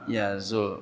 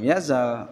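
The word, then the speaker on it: يزول: Jadi seharusnya dibaca sebagai lam yazul, bukan lam yazal, Anda mengerti.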